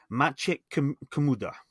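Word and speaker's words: Maciek Kamuda: Now I did check with a Polish friend how to pronounce his name, so they told me about. The problem is I had this covered on about a year ago. I believe it's Maciek Komuda.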